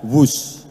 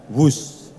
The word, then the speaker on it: Whoosh: operasi optimal sistem hebat sekali lagi w h o o SH Tapi bacanya wus kereta cepat Jakarta Bandung